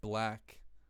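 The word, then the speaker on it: 6lack: A 6 lack, pronounced black, Lil Baby Gunna type beat.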